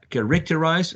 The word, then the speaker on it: characterize: us to see that the stroke goes in the first syllable not so characterize or correct arise is not going to be the pronunciation but the first syllable should be the the louder one so um how do